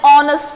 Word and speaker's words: honest: So, like R, here also H is silent.